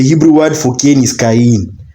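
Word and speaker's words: קין: Yeah, the Hebrew word for Kane is Ken. Sounds like the Hebrew word for acquired or gotten.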